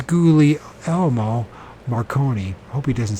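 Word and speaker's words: Guglielmo: gly Elmo okay Gulu what happened to the second G just goo when forget I would pronounce it gug Li l l MO it's gouie Elmo Marone hope he doesn't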